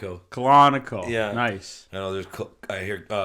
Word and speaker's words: Colonico: it every time yeah I know it sounds like a serial it's colonic Oh colonic oh yeah nice no